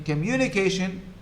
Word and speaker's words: communication: and the secondary one so in in communication the loudest syllable is mu immunication communication this is in english